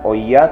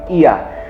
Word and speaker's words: Oia: Nah, saya rekomendasi tempat yang pertama atau lokasi yang pertama adalah Ia. Ya, tulisannya OIA ya, tapi bacanya bukan OIA tapi Ia.